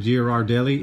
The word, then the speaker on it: Ghirardelli: it's the American branch so that's how you pronounce that Ghiradelli and this is peppermint bark with other natural